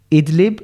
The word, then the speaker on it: Idlib: There's a widows and orphans camp in Syria, and a new one is being built right now in Idlib, am I pronouncing that right? Idlib, yeah.